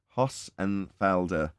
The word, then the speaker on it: Hossenfelder: I can move on passenger there we go Hoss and Felder Sabine hostenfelder is the name of the channel